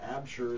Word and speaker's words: Absher: Absher is with us as well. And did I pronounce that right?